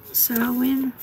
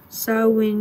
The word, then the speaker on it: Samhain: There's that, and then we have a whole section on Samhain and what it is and what it means.